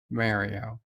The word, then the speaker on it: Mario: Being able to pronounce words too well, which, by the way, the robot pronounces a specific word absolutely correct. Yeah. Mario, Mario, Mario. Mario. That is the correct pronunciation of Mario.